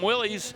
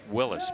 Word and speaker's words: Willys: The drag racers got a hold of that name and started calling him Willys. Yep. But go back to the beginning days of that brand and it was Willis.